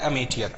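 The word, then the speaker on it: amateur: जैसे एक वर्ड है, एक वर्ड होता है अमेटियर, अमेटियर, अमेटियर का मतलब क्या होता है, इसका प्रोनाउंसिएशन होता है अमेटियर।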